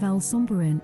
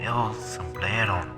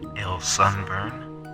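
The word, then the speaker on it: El Sombrerón: But anyone can put soil and rocks into people's food, and for this reason I'm giving El Sombreron, or as the reader pronounced it, El Sunburn, I'm giving El Sunburn a 5 out of 10.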